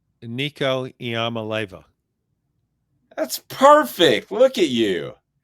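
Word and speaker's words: Iamaleava: pike in the heart of halls can you pronounce nico's last name nico iamaleva that's perfect look at you well you know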